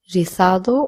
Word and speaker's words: rizado: Again, the Z will be pronounced as th or so. So you can either say rizado or rizado. If I want to say,